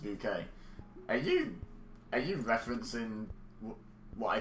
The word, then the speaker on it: Bucket: But I have to say my goodbyes like a good bucket pronounced bouquet.